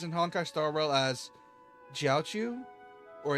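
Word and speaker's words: Jiaoqiu: It's J I A because typically Q with Chinese names is more of a CH for us.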